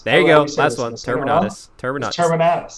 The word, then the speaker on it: Terminatus: Terminatus. Terminatus. Think of Exterminatus, but Terminator.